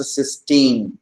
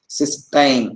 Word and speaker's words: cysteine: So this amino acid with the free thiol group is pronounced cysteine, and this disulfide form is pronounced as cysteine. Okay, Ti, cysteine, and this is cysteine.